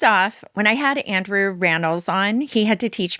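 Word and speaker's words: Rannells: Okay, first off, when I had Andrew Ran on, he had to teach me. He was like, "It's ran rhymes with panels."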